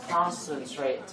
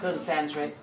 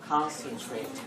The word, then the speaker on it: concentrate: Đây là một từ các bạn hay đọc sai, bạn hay đọc là consent, đúng không? Đấy. Từ này người ta xoa âm số 2, vậy là concentrate. Đấy. Not concentrate, concentrate.